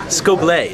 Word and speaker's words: Scoble: Scoble. It's pronounced Scoble. Scoble? This is a secret. He's French. He's French.